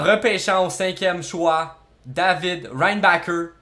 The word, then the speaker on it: Reinbacher: au cinquième choix David Ryan Baker prononcé David rainbower comme Schumacher le conducteur de F1 c'est comme ça que l'on doit le prononcer rien une barrière on